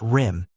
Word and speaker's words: RYM: The revolutionary youth movement RYM, pronounced RIM, emerged in late 1968,